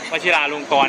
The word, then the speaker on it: วชิราลงกรณ์: ครับ นี่ คือ ตึก วชิราลงกรณ์ นะ ครับ อ่าน ว่า กรรณกร ครับ วชิราลงกรณ์ นะ ครับ อ้า ไม่ ได้